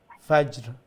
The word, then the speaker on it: Fajr: Fajr. Fajr. So make sure you pronounce both of the last letters with a sukoon.